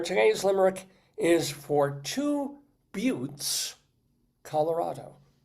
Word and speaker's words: Butte: I better look this up because but Montana is pronounced but like beautiful.